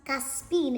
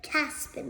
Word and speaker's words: Caspian: of Narnia Prince caspi It's pronounced caspin instead of Caspian but so then Peter